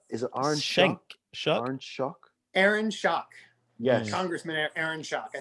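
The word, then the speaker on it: Schock: but before that is it shank shock aaron shock yes congressman aaron shock i think from illinois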